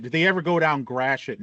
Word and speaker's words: Gratiot: Did they ever go down Grashet? Did they ever pronounce it as Gradiates or Gradiot?